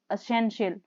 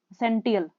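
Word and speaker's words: essential: कुछ वर्ड की प्रोनाउंसिएशन नहीं आती उनको राइट करना है, जैसे स्लीप इज एसेंशियल। अब इसको हम बोल देते हैं TIL को टियल, सेंटियल। बहुत सारे स्टूडेंट मिस्टेक करते हैं, शियल बोलना है इसको, एसेंशियल।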